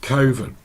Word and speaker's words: coven: to around so well is it better to join a coven or some people pronounce it kovan and again I would